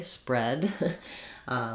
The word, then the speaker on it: spread: read, past tense read has the eh vowel, the same as this kind of read. So it might help you to think of it just as though it would make more sense really to spell it that way, spread, spreading.